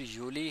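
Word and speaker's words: Juli: अब जो यूनी है या फिर यूली है यह इसकी प्रोनाउंसिएशन दोबारा देख लें।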